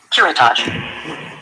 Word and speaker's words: curettage: Curettage. See? Curettage. So, have you ever thought about when you don't know how to pronounce a word to spell it and your phone tell you how to pronounce it?